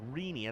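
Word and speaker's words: Rene: very well last night oh it's rini i think i've been saying remy this whole time my apologies it's r-e-n-e and it's rini is how to pronounce okay all righty well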